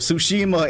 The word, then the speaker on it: Tsushima: I actually streamed a bit earlier today so I can get some Ghost of don't pronounce the T. Do not pronounce the T. Ghost of Tsushima, and Eric comes in with 20.